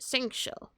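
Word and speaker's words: Xingqiu: That's how you pronounce it, Singcho.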